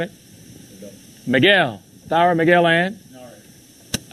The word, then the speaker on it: Nareg: Narek. How do you spell that one?